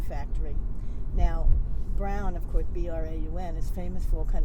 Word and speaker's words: Braun: Now, Brown, of course, B-R-A-U-N, is famous for all kind of electronics now, but at the time they made cameras. Yeah, it's pronounced Brown.